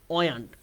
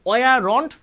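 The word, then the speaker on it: weren't: ওয়ান্ট, ওয়ান্ট, ঠিক আছে? ওয়ান্ট, ওয়ারন্ট না, ওয়ান্ট। তো ভাইয়ের সাথে বলো তো কি?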